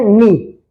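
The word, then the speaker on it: knee: ये क्या है, इसमें के जो है वो साइलेंट है, के की आवाज नहीं निकालनी। क्या करना है हमने, के की आवाज नहीं निकलेगी, और यहाँ पे सिर्फ हमने बोलना है, लिखेंगे हम के एन डबल ई, मगर बोलेंगे क्या, एन डबल ई, नी, के एन डबल ई, नी, के साइलेंट है, के एन डबल ई,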